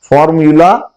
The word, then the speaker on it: formulae: फॉर्मूला singular है, फॉर्मूली, ये देखिए आप, FORMULA फॉर्मूला सिंगुलर, और ई उसके साथ आगे लगाएं तो ये प्लूरल हो जाता है, और इसको प्रोनाउंस करते हैं फॉर्मूली, फॉर्मूली। Chemical reactions can be made